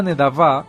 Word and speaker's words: nedavá: Toda agradecimiento, un Nther, que es un voto o una promesa hecha a Adonay y una nedavá, que una Nedavá con acento en la al final nedavá es voluntaria, es decir, ofrecimiento libre y espontáneo.